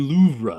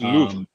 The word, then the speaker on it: Louvre: But when did they start pronouncing the R in Louvre again? Everywhere I go, because it was Louvre. Louvre. All through me growing up, you did not pronounce the R.